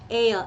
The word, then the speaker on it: heir: But in some cases H is silent. For example, honest, hour, homage, heir.